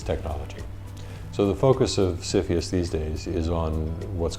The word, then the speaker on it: CFIUS: CFIUS, pronounced CFIUS, it's a funny way to pronounce it, is mostly interested in, its mandate is to protect US national security.